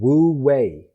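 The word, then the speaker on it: wu wei: taoism is based on which is called woo way and way is spelled w-e-i the same as the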